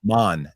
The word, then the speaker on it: Mon: I said to Steph, I said to her, wait, every time I pronounce this wrong and nobody corrects me, Marmothma. Mon, M-O-N.